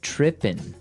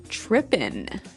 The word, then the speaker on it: tripping: It doesn't have the G at the end, which isn't really grammatically correct, but that's kind of the way it's pronounced.